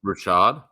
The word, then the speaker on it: Rachaad: It's Rashad? right? It's Rachaad. So that's Rashad. I don't know. Rashad. Again, The ch in the English language can sometimes be sh.